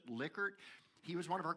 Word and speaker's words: Likert: called the Likert scale, Rensis Likert, or how he pronounced it, Likert.